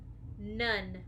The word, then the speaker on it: none: shout it out first one letter n mmm none say the word nun spell the word nun